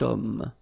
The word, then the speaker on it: homme: got this h letter, remember h is not pronounced, okay, so you've got the sound of o at the beginning of this word, okay, cet homme, so that's the reason